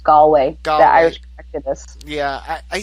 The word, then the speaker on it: Galway: It's actually pronounced Galway.